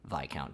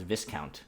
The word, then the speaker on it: viscount: british admiral washington shirley vi count tamworth which i initially pronounced viscount which apparently is vi count my friend corrected me